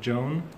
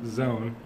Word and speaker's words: zone: said earlier that I wanted to correct the pronunciation of was he said zone but you said it has Joan so for a lot of people I can